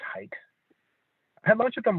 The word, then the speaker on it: Haidt: It's his last name, but it's pronounced Haidt.